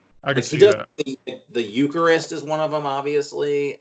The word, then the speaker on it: Eucharist: From Yuri Christ, I get like this kind of rhinestone cowboyish kind of Billy Wood song. Eucharist, you mean?